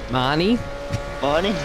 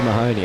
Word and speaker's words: Mahoney: currently in P2, and Joe Mahoney, or Mahoney, is it? Marnie? No, it's Joe Mahoney, I'm telling you. That's how his name's pronounced.